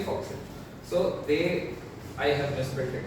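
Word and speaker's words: fo'c'sle: Yeah, it is actually foxel.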